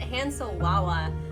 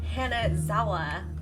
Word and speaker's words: Hanazawa: How did you get Hansowawa? Zooey Mama? Oh. Dance stream when? There is not going to be a dance stream anytime soon. What are you talking about? Where am I going? It's pronounced Hanazawa.